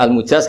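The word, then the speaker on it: المجاز: sanad itu untuk almujaz bacanya almujaz karena dari fiil ajazah jadi mujaz itu yang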